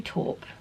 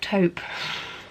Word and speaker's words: taupe: I think I'll do talk no not talk taupe my pronunciation is shocking